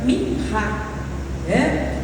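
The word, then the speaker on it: מנחה: É uma oferta que, se a gente transliterar do hebraico, a gente vai pronunciar como minhá, do fruto da terra.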